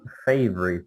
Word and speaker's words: favorite: been his favorite okay so let's repeat favorite this only has two syllables any questions there